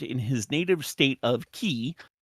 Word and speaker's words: Qi: He died in an abortive coup attempt in his native state of Qi. Is that Qi or Chi? I never remember how to pronounce the Q in pinyin. It's a voiced ch.